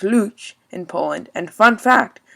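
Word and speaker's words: Łódź: the second biggest city in poland is lobs pronounced luch in poland and fun fact luch also means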